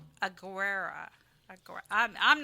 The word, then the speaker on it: Aguero: going to be uh Aguero. It's like you say an O at the end.